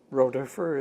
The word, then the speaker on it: Rodefer: We are in Hudson, Ohio, and I'm speaking to Colonel Rodefer. Is that correct? Rodefer is more correct.